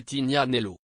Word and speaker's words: Tignanello: une gorgée de vin appelé tignanello prononcé tignanello mais soyons réalistes dans les états la plupart des gens disent atig l'année l'eau ou tout simplement le lieu tig l'italien de